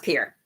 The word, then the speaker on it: Pierre: He says it's pronounced Pierre.